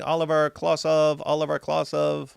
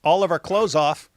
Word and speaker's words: Oliver Klozoff: Attention Kmart shoppers, paging Oliver Klosov at the customer service desk. I'm missing it. Oliver. Okay, I'm pronouncing it wrong. Oliver Klozoff.